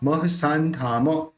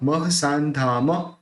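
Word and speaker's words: महसांधाम: महाध्वर धरो धुर्यो, महो, महोदार्यो, महोदार्यो महिष्टवा, महो दार्यो महिष्टवाक, महाध्वरधरो धुर्यो महोदार्यो महिष्टवाक, महात्मा महसान्धाम, ये जो ये बिंदी है उसका न निकलेगा, महात्मा महसान्धाम, महर्षिर महितो दयः, महर्षिर,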